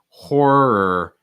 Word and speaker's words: horror: um how about horror horror for my people studying american english this is going to be a good word because so many r sounds they're so strong horror try to get that first star strong horror or just like er or that's the combination that you want to practice a little bit horror horror like two parts okay um okay saying